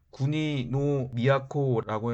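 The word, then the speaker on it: 国造: 그리고 6세기 초에 지배체제를 정비하게 되었는데, 이때에 일본에 있던 각 지역에 있는 토착 세력, 지방호족 세력을 국조, 일본어 발음으로는 구니노 미야코라고 했는데, 이들이 각 지역을 지배하는 세력으로 여전히 남아 있었습니다.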